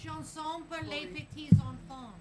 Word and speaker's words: Chanson pour les petits enfants: Chanson pour les petits enfants.